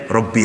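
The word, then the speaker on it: رَبِّ: Robbi ada ya mutakallimnya Tapi bacanya pendek Robbi habli minassholihin bukan Rabi eee salah sama itu pendek itu ada mutakallim mestinya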